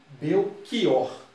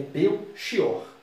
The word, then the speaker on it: Belchior: Reparem que muitas pessoas, na variedade popular, as pessoas pronunciam Belchior, como se fosse um K. Mas a pronúncia formal é Belchior.